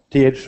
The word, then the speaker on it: Thor: name is uh th R Thor is the Scandinavian name pronounced t and uh I'm not